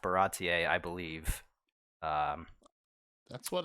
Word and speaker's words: Baratie: and it is pronounced baratier i believe um that's what i've been told by uh rob right rob and kyle i said uh barody they corrected me they said it's baratier so that is what we're